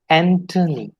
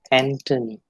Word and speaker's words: Anthony: there it is thomas then we have anthony it is never never anthony it's antony the next one is